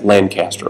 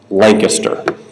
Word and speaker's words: Lancaster: they should I mean everybody in the room would say that's Lancaster of course but no in South Carolina's pronounced Lancaster and if you don't pronounce